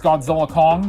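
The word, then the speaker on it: Godzilla x Kong: The X is silent, kinda like the X in the titles of Hunter x Hunter and Spy Family.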